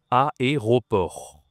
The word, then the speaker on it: aéroport: Tu as deux voyelles ici, c'est difficile à prononcer. Aéroport.